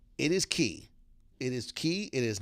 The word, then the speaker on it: Cay: why is it pronounce key and not K because key is the correct pronunciation of the word that I will there's